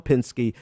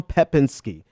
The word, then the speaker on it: Pepinsky: it was at TR Tom Tom Pinsky decom um I said that name so wrong it's Tom pepinsky Tom pepinsky domcom it's